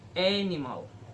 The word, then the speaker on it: animal: For example, animal. A is stress, ni and mal as flat.